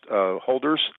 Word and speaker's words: hodlers: respect to Bitcoin, is they call themselves hodlers, but it's pronounced holders, meaning you buy Bitcoin and you hold on for dear life.